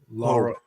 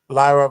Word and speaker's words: Lyra: What's how you pronounce her name again? Laura. Laura. Lyra Vira.